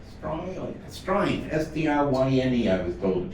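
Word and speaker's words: Stryne: Strine. S-T-R-Y-N-E, I was told to pronounce.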